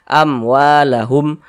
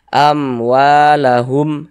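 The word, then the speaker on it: أَمْوَالَهُمْ: Maka dibaca jelas, pendek saja. Amwalahum, jangan dibaca jangan dipanjangkan begitu, jangan, pendek saja. Amwalahum, seperti itu.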